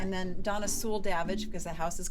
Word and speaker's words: Davidge: Davidge. Davidge. Rhymes with savage. It rhymes with savage.